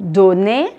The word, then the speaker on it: donnez: Vous donnez, je ne prononce pas le Z final.